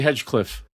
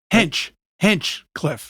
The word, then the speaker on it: Hinchcliffe: Okay, Tony Hedgecliffe. Hinchcliffe. I got a Hedgecliffe down. You had the name wrong?